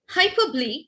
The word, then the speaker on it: hyperbole: Hyperbole, the pronunciation, please take care of it, because I find many times students as well as my dear colleagues and friends, the pronunciation is hyperbole.